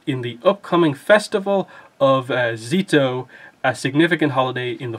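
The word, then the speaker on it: Szeto: So I was pronouncing it, I think, Zeto, because it's like Seto without the Z, but it's actually more like, you know, you almost ignore the S and it's like Z-to.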